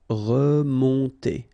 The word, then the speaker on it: remonter: Remonter. Okay, first E, re, and then nasal here, O-N, on, remonter. Remonter.